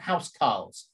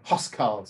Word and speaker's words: huscarl: They were called housecarls, or huscarls, actually, if you're going to pronounce it properly, okay?